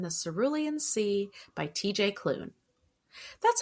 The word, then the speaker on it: Klune: And today we will be discussing and reviewing The House in the Cerulean Sea by TJ Cloon.